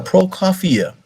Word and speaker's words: Prokofiev: Prokofiev was born in 1891, and somebody help me out.